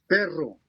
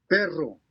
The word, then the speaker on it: perro: Try to trill the double R in each word. Perro.